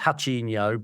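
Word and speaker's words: Ratinho: I think in Brazil it would be pronounced Hachinho, but to us it's Rachinho. And he had a football shaved into his head, and it looks fucking terrible.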